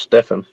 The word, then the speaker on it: Stephen: I had a friend whose name is Stephen Richardson, and his name is spelled like Stephen, but it's pronounced Stefan.